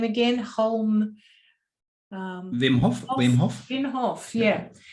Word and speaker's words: Wim Hof: Wim Hof.